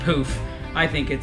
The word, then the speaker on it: Pooph: of that popular product I call it poof but they say it's poof I think it says